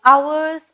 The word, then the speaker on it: hours: Here the working hours are more. Hours, hours னு சொல்லக்கூடாது, H is silent. Here the working hours are more. Hours, okay, O-U-R-S மாதிரி pronounce பண்ணும்.